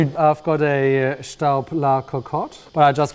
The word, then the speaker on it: Staub: Well, the name is Staub and it's owned by a German company, but it's French made.